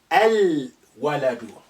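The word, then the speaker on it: الولد: Waladun, al-waladu. Wow is a moon letter.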